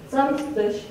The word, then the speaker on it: Samstag: For a Saturday, we say Samstag, and I made the graph of all the variants in writing we found. Here's the list on the right. And you see the stressed syllable is the first one.